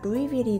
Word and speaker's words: Louisville: 만약 영어 스펠링을 보면 루이스빌 아니야? 라고 생각이 될 수 있는데요. 왜 루이스빌이 아니라 루이빌이 됐는지 찾아보니까 프랑스 루이 16세를 기리기 위해 만들어진 거라 루이 16세 스펠링도 L-O-U-I-S거든요. 근데 루이스라고 안 하고 루이라고 하잖아요. 그래서 여기 마을 이름도 루이빌이 된 거더라고요.